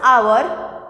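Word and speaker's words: hour: Though it is starting from H. H is a consonant.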